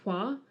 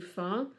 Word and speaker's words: Hua: So you will have noticed in the remake, they pronounce her family name as Hua, as opposed to Fa. That is the difference between the Cantonese and Mandarin pronunciations of her name. Okay. So it should be pronounced Hua, I think, but in Cantonese it's pronounced Fa, so it should be Fa Mulan.